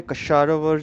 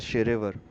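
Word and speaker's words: Shahrivar: And by the way, Kasharawar जो बोलते हैं ना वो actually it's a Persian term known as Sherevar. The K is silent. And Sherevar. Not Kasharawar.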